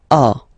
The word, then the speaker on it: as: So as you can notice, second form as is pronounced a, and this is a, same pronunciation in both cases, okay.